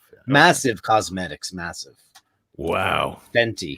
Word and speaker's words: Fenty: Fenty. Which rhymes with Fendi, by the way.